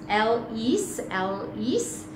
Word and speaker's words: Ellis: tick tick tick tick Ellis pronounced L is has grown up to